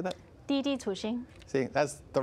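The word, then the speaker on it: Didi Chuxing: Didi Tuxing.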